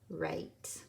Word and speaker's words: write: let's do it again W R I T a ghost digraph WR make run on your eye silent E right all right would you